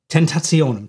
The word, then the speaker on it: tentationum: In tentationum. Tentationum seems like a complicated word, but it's not, because it sounds like the word temptation.